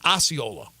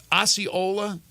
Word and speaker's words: Osceola: So I'm told the pronunciation is Osceola, not Osceola, Osceola.